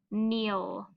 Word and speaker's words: kneel: The K is silent, so it just says N. So we have N, E, ul. The word is kneel.